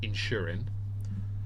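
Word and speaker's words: Inchmurin: The second one is, the second one is called the Lloman 12-year-old in spelled inch murin. I N C H M U R I N, pronounced Insurin.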